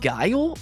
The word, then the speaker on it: Guile: I believe it's pronounced Guile based on your all's comments.